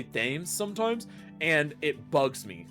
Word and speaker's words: Thames: Now, it's pronounced Thames. Yeah, I know it's Thames, just I always want to add the H, and I don't know why.